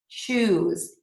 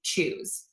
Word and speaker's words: choose: you see a verb so if you see a verb that's spelled with s e like arouse a p choose those are all going to be pronounced with a z so again s e at the end of a verb we're going to pronounce that as a z sound arouse appease and choose okay and these those